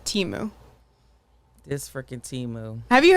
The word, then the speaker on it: Temu: definitely seen an ad from a company called Teemu so it's spelled temu yeah and you'll recognize it because